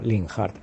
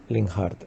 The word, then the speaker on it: Linhart: digo que me llamo linhart con lo cual En mi opinión la pronunciación más correcta aunque sea otra sería linhard Ok venga un abrazo